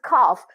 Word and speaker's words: calf: So you just need to remember that L will be silent here, okay? Half and calf. We have two similarly looking words and similarly read, pronounced words, okay?